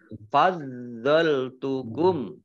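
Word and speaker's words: فضلتكم: Wa anni fadzaltukum. Do-nya dibaca double ada tasdidnya. Fadzaltukum alal alamin.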